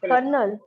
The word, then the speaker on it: colonel: Because it is written very differently, but the pronunciation is totally different from the way it is written.